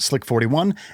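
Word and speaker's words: SLC-41: Lucy was then transported from its clean room to ULA Space Launch Complex 41, usually pronounced Slick 41, at Cape Canaveral Space Force Station and hoisted into place atop the Atlas V in ULA's vertical integration facility.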